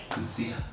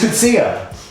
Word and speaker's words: Cootsey: How do you say the name? Because I can cut this out. Cootsey. Oh, it's Cootsey.